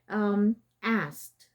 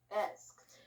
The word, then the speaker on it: asked: Okay, so meaning there's no sound of the E. Okay, so let's start. Asked. Asked.